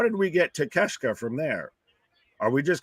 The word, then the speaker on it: Takeshita: I'm going to say it so I don't keep mispronouncing this man's name. Takeshita. That doesn't look like Takeshita. No, not even in the slightest.